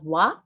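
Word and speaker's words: 和: In Japan, harmony is pronounced as wa. I would like to introduce here that circle is also pronounced as wa in Japanese.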